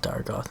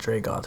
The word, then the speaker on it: Dargoth: This town is called Dargoth, not Dragoth.